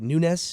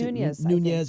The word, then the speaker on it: Nunes: Not only with the, what is it, Nunes? Is that how you pronounce Nunes, it? Nunes.